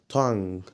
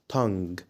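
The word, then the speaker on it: tongue: ارجو طب الكلمه الثانيه تنج تن خلي بالك حرف الجي مش بيتنطق بعد حرف الان فعشان كده ما تقولش تنج تنج قول تن تن يا رب تكونوا استفدتوا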